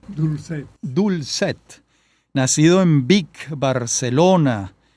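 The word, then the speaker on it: Dolcet: tener con nosotros a Alberto Grau Dolchet, así se pronuncia, Dulcet.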